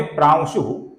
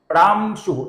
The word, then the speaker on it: प्रांशु: आगे का नाम है प्राशु। इसके अनुस्वार का उच्चारण हम प्राशु ऐसा नहीं करते हैं क्योंकि अनुस्वार के आगे श है तो इसका हम हल्का सा व उच्चारण करते हैं। प्रांशु।